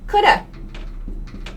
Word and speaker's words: could have: have and shouldn't have could have sounds like coulda gooda I could have